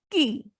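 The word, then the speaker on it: qui: read as ko meaning is tale q-u-a is pronounced as ka next is q-u-i the word is key meaning is who next is triphthongs when three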